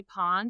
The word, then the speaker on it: Pin: It's spelled Pin, but they say Pawn because she's French I believe.